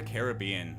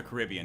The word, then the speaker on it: Caribbean: be pirates of the caribbean or the caribbean depending on how you pronounce that uh the main character